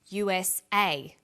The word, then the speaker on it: USA: Notice that each letter in the abbreviation is pronounced separately, but the last letter is pronounced more strongly because it carries the primary stress. So we say USA, ASAP, ABC, and TV.